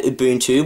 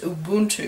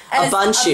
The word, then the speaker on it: Ubuntu: Not to mention how you incorrectly pronounced Ubuntu. Yeah, I said Ubuntu. Ubuntu. Like sneezing.